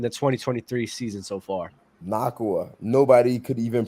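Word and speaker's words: Nacua: I still can't pronounce it. Like, man, is it Nakua or is it Nakua? Oh, it's Nakua.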